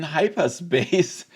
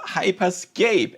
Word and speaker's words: Hyperscape: And nobody uh noticed that I pronounced it wrong. I mean I I in my video I called it Meta Horizon Hyperspace but it's called Hyperscape at least I think